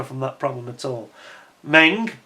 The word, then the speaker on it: Meng: Meng, or Mung as they are normally called in terms of correct pronunciation, they did a fine job with this kit, and it's really, really detailed and beautifully conceived.